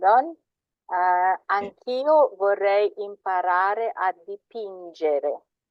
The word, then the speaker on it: dipingere: Anch'io vorrei imparare a dipingere. Dipingere with a G sound because there's no H and it's followed by an E, so it's a soft J, not dipingere.